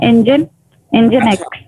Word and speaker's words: nginx: है इंजन की तरह, जैसे इंजन को प्रोनाउंस करते हैं ना, इंजन एक्स।